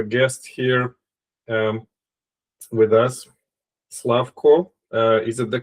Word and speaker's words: Slavko: Slavco, is it the correct way to pronounce?